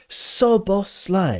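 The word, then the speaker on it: Szoboszlai: know it's very easy cuz SZ in Hungarian is just s okay there's no Zed it's just s okay and the opposite in Hungarian s is like sh in English so and as an example word is sushi right in English s u Shi but in Hungarian s z u s i see Sushi is the same thing so soos Sly okay so it's a soft s and not a zed and I will not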